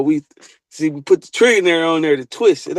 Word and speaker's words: Trillionair: We just pronouncing it trillionaire. It ain't even spelled the same thing.